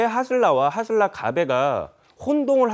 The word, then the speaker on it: 가베: 근데 그 강릉 지역에 원래부터 있었던 하슬라 가베라는 그런 어떤 음식점 커피집이 있었어요. 근데 가베가 뭐냐? 갑에 갑에 저도 몰랐거든요. 커피 예, 맞아요. 커피를 이제 한국식으로 발음을 해 가지고 하슬라 가벼라는 커피집이 그